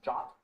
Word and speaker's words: JWT: Json web token or a JWT sometimes pronounced as a jot um and that's just